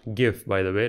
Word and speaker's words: GIF: it's adding factual data it's pronounced GIF like gift not like giraffe so it's not a